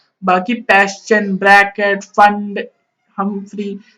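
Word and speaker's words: Pfund: फंड, P silent होता है बेटा, फंड होता है जब n=5 में आता है इलेक्ट्रॉन।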